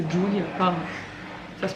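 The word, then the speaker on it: Ghjulia: En fait, G-H c'est un début de mot en Corse qui est dans... Enfin, on le voit partout, ça se prononce pas en fait, parce que c'est Julia.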